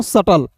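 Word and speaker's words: subtle: एस यू बी टी एल ई को पढ़ेंगे दोस्तों सटल। क्लियर हो गई? अब दोस्तों यहां तक बी का जो उच्चारण के नियम आपको मतलब बी कहां साइलेंट होगा दोस्तों मैंने आपको इसको बता दिया।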